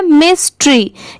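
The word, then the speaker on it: mystery: आप पढ़ सकते हैं, तो अगर हम MY को सेपरेट कर दें, MY, तो इसकी प्रोनाउंसिएशन माय नहीं होगी, मतलब इसको हम माय नहीं पढ़ेंगे। यहाँ पर इसकी प्रोनाउंसिएशन है मी, मी, ठीक है, मी।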